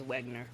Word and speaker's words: Wegener: I think you can pretty safely pronounce it as Wegener.